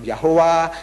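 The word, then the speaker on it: Yahweh: i well these are consonants produce a sound you can't you have to add vowels add them as you like as you like add the vowels to produce the sound so it become yahwah yah anything pronounce where did you get the J from where did you get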